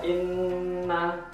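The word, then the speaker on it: إنّ: Ini ada inna, summa, innama, falamma. Jadi harus mendengung, tidak boleh langsung inna mim ba'di, gak boleh. Jadi harus inna, harus mendengung dengan dua harokat atau dua ketukan, bisa dikira-kirakan.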